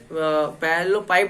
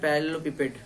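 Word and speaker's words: parallelepiped: पैरेललोपाइप भी बहुत जन बोलता है, तो उसका प्रोनाउंसिएशन बहुत अच्छा है इसीलिए बोलता है, हमको इतना लेना देना नहीं है, लेकिन इसका रियल प्रोनाउंसिएशन है पैरेललोपिपेड, ठीक है।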